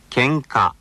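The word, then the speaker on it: 喧嘩: 喧嘩喧嘩 See? Each of the syllables is given one beat.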